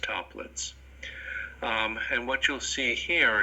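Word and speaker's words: Toeplitz: That's how this is pronounced, toplets.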